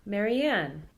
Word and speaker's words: Marianne: In the last example, there's stress on the final syllable, Marianne.